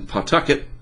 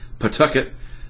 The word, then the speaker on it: Pawtucket: company up there in Pawtucket hopefully that's how you say it Pawtucket I learned it's not Pawtucket just North and East